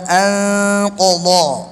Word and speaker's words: أنقض: সবাই উচ্চারণ করেন শব্দটা আনকদ ধরার সময় ফাতলা করে ধরবেন আস্তে আস্তে মোটা হবে আনকদ আরো জোরে বলেন